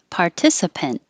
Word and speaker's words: participant: Participant, hold the T, participant.